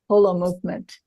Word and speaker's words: Holomovement: remember it that way pronounce it correctly and you say whole Hol movement Hol movement as in whole and indeed you're absolutely